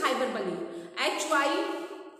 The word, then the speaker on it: hyperbole: Don't pronounce hyperbole, it is hyperbole.